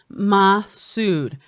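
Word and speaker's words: Massoud: that meena masood's name is said ma sued rhymes with dude hope he is the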